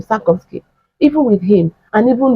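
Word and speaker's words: Sarkozy: decades now even with sakovki yeah that's the pronunciation of his name sakovki even with him and even with um the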